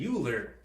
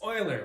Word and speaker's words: Euler: If you said Euler, leave. Euler. It's Euler. Why is it pronounced Euler?